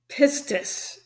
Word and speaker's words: pistis: that's used is called pistis I think that's how you say it p-i-s-t-i-s and I think it's 4102.